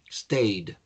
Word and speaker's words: stayed: Y se pronuncia lo mismo, pero con una D, un sonido D al final. Stayed. D, D, stayed.